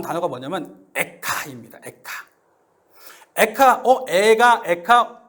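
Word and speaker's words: אֵיכָה: 제일 먼저 나온 단어가 뭐냐면 액트 아닙니다 될까 에카 애가 엘카 발음이 비슷한 에아 이스라엘 사람들도 역시 슬픈 노래를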